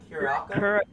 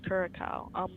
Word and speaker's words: Curaçao: How do you pronounce that name? Curaçao? No, I think it's Curacao.